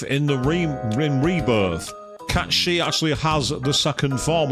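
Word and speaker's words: Cait Sith: it's cat she no I am not pronouncing it the way they say it is it's a Scottish name it's cat shei deal with it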